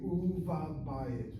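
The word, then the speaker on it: ובבית: So I see the word in the house, vav bayit. The vav will be pointed thusly as a shura, u. The dagesh kal in that bet letter will now become continuous, And the form will be uva bayit, uva bayit, uva bayit.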